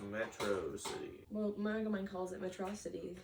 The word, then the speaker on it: Metro City: realize how much bigger the city was the Metro City and how different everything looked from the outside it's pronounced Metro City well Megaman calls it metrocity the pronunciation is